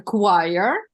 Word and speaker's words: choir: Только это читается choir.